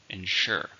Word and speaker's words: ensure: happens it's a verb how many syllables ensure two syllables stress in a second ensure it's okay to make